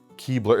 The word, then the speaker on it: Keebler: Keebler, it's like the elf. It's Keebler, but like Keebler, if you pronounce it quickly.